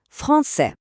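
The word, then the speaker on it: français: Чоловічий рід Фонсе. Кінцевий звук се тут ніби спить. Він німий. А тепер ми додаємо е. І він прокидається. Фонсез. Чуєте? З'явився чіткий звук з.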